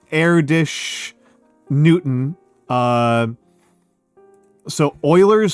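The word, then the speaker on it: Erdős: Uh the the names I said were Oiler, Erdish, Newton. Uh so Oilers spelled like this.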